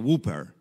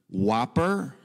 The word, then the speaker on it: Whopper: um give me one whooper and so my brother and i like we just collapse in horror because like that it's pronounced whopper not whooper and by the way